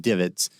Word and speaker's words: DVIDS: The number one source I'd recommend for that is the Defense Visual Information Distribution Service, DVIDS, usually pronounced DIVIDS.